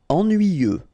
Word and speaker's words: ennuyeux: Ennuyeux. Okay, final X not pronounced, and then ennuyeux.